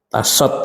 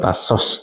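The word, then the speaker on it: 다섯: Ya, jadi 1 adalah hana, 2 adalah dul, 3 adalah set, 4 net, 5 tasot. Tasot ya, bukan tasos tapi tasot.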